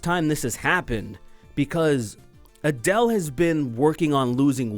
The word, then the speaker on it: Adele: boy Adele Adele Adele I delay I think well that's kind of how it's spelt right like a delay but it's Adele she uh this is